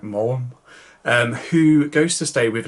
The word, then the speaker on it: Maugham: Anyway, so it tells the story of this famous writer, Willie Somerset Maugham, I think I pronounced that right, Maugham, who goes to stay with an old friend